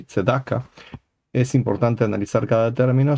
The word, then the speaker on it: Tzedaká: Por ejemplo, Tzedoke o Tzduke en lugar de Tzedakah.